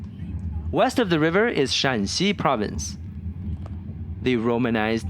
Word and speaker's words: Shaanxi: The romanized name looks very similar to the Shanxi Province we just passed, but in Chinese it is pronounced with a different tone and is written with a different character.